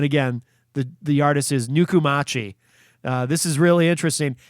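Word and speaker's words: Nukumachi: of this artist is nuku machi i assume i'm saying that correctly i'll spell it for you if you want to look them up online n-u-k-u-m-a-c-h-i really just kind of how it sounds uh nuku machi and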